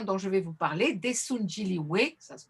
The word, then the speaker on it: Daesoon Jinrihoe: Donc le groupe coréen dont je vais vous parler, Desunjili, ça se prononce bien que leur c'est la transcription française